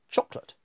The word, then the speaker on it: chocolate: So chocolate, the first syllable is stressed so much that the short syllable coming after it disappears. Chocolate. No one says chocolate. Chocolate.